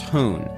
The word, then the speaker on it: houn: The name Stabbage translates roughly as Stand By Me, with the last part simply Frisian, meaning dog, which is pronounced hoon.